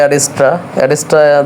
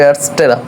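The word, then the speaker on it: Adsterra: চলে আসছে অ্যাডসেরা তো এটাকে অনেকে উচ্চারণ করে অ্যাড্রাস্ট্রা দিয়ে অনেকে চিনতেছে আর কি তো এটা সঠিক উচ্চারণ হবে অ্যাডসেরা তো আমরা যাব যাওয়ার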